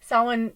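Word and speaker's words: Samhain: you know for now because I've been celebrating sin for so many years now and of course it's Halloween and Day of the Dead and all that but sin you know it's the end of the Harvest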